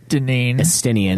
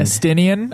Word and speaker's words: Estinian: Okay, so once that's all settled, you return to Ishgard, deal with a few things, and along with Istinian. Estinian.